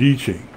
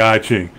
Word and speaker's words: I Ching: is called the I Ching well the correct pronunciation is eaching okay but most Westerners call it the I Ching and Christians will say almost from the devil